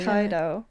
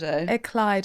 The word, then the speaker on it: Ekleido: What pronunciations do you get? Iso. Yeah. Ekaido. Interesting. Eclo. Yeah. Say it one more time so we're clear. Eclo.